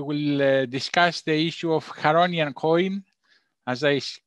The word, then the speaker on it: Charonian: Today we have George who will be presenting on the how do you pronounce it? Charonian. Charonian.